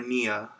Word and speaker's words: Nia: Nia Jax trailer, or Nia. Nia. Oh, I said it right. Wow, I said it right for the first time.